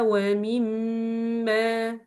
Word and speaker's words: وَمِمَّا: So you will pronounce here this meme with the longest duration for Ghunnah like this. وَمِمَّا وَمِمَّا. So don't pronounce this meme quickly, okay? Why? Because it has shadda above it.